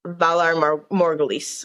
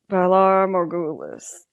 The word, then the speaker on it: Valar Morghulis: any man from Braavos and say these words, Valar Morghulis. I never say it correctly, but that's basically what it is. Valar Morghulis.